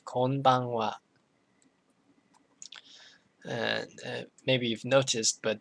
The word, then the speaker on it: konbanwa: it's evening you say konbanwa and maybe you've noticed but the the this syllable is pronounced it's one whole syllable so it has the same weight as all the other syllables okay next one sayonara